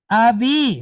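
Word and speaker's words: אבי: Now, Aleph is a silent letter. There's two silent letters in Hebrew, right? Aleph and Ayin, all right? Aleph is a silent letter, but it's pointed with Chetef Patak, so it's going to make a quick ah sound.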